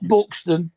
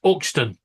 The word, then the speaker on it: Euxton: It's not Buxton, it's Yuxton. No, try again. No, it's not. Try again. Why? How would you say it? It's Uxton.